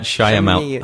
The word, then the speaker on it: Shyamalan: MK, I always get this guy's name wrong. I better look it up. Shamalamalang Ding Dong. Shamala Shalamia. M. Night Shyamalan.